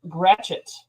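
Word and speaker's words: Gratiot: I keep popping up g r a t i o t is pronounced gret wait how you spell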